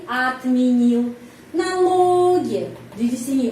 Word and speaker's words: отменил: Я бы отменил lagi huruf O pengucapannya A. Kenapa? Karena penekanannya di sini pada huruf I, jadi отменил.